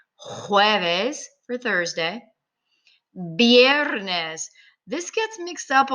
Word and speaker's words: viernes: All right, viernes. And remember, the V sounds like the letter B.